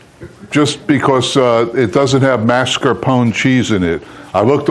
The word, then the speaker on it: mascarpone: pronounce it? Mascarpone, right?